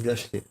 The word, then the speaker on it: Lachet: Merci donc Philippe Rago, merci donc Lachet, donc Lachet, ça s'écrit Lachet. On dit Lachet. Ah, Lachet. C'est comme le prénom américain. D'accord. Ashley, avec un L devant. Lachet.